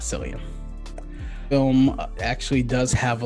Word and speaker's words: Cillian: It's Cillian, not Cillian.